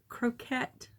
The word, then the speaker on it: croquette: one up is this croquette oh it's not croquet cuz this spelled differently croquette you learn from red